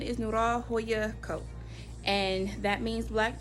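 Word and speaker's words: Noir Joya: I pronounce it Noya Joya Co. But the correct pronunciation is Nura Hoya Co.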